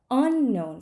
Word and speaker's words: unknown: jam homemade jam okay something is unknown but unknown factors unknown factors because factors is much more important than unknown so if um I need to keep the stress on factors in the correct correct place and that is why in the word unknown the stress changes a little bit so that it's easier to say it unknown factors and the